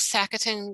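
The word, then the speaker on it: sacaton: the are the big sackett and grass long lived and tell me if i mispronounced that nope that's just right the big sack-a-thon no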